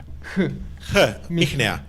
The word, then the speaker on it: Mihnea: Is it Mihnea? That's better than 90% of people. Really? So it's a sh. Mihnea. Yeah, it's like jota in Spanish. Perfect. So thank you so much, Mihnea, for your presentation.